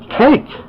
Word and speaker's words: Cake: And the last letter is letter E, because the E is silent. That's the word Cake.